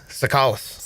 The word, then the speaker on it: Tsoukalas: Sakalis.